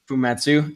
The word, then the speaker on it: Fumetsu: I picked up the Fumutsu. Is that how you say it, Alex? Fumetsu.